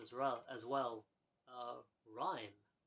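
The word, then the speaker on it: RiME: well as well uh rhyme r-i-m-e I guess rhyme would be the right pronunciation for that uh this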